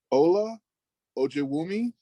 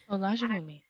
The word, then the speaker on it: Ola Ojewumi: So next up, I want to introduce Ola Ojewumi. Olajewumi. Hi, thank you for pronouncing my name perfectly correctly.